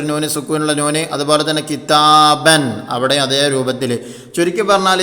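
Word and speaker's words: كِتَابٌ: എഴുത്തിൽ ഇല്ലാത്തതും ഉച്ചാരണത്തിൽ വരുന്നതുമായ സുക്കൂനുള്ള നൂനാണ് തൻവീൻ.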